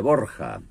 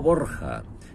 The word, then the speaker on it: Borja: Alejandro VI, que se llamaba civilmente Rodrigo Borja, pero al trasladarse a Italia se cambió la pronunciación del apellido y quedó como lo hemos conocido, Borgia.